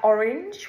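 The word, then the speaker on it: Oranj: an event tonight at Orange wine it's called it's called orange but it's spelled o r a n j o r a n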